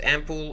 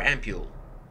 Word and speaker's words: ampoule: ocupado and so I officially it is pronounced ampoule or ampule great thanks come on